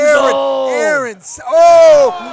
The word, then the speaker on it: Eron: Aaron. Probably not. All right. Well, So it's pronounced Aaron, is what they just told me.